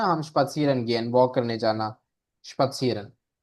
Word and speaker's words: spazieren: नहीं नहीं प्रोनाउंस हो रहा। स्पासियरन, स्पासियरन, Spazieren. स्पत्सीरन, सीध स्पत्सीरन है।